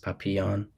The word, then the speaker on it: Papillon: SW so yeah I highly recommend that movie papon papon yeah it's a it's a French word so it's spel it's spelled Papillon um but it's pronounced papon um yeah highly recommend yeah I'll check it